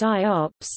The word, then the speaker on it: IOPS: Input, output operations per second, pronounced IOPS, a common performance measurement used to benchmark computer storage devices like hard disk drives.